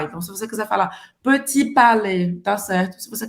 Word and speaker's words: petit: Você não vai pronunciar o segundo T no final da palavra.